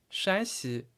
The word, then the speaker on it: 山西: 差不多先生说是陕西，老师说不对，其实是山西，声调是不一样的。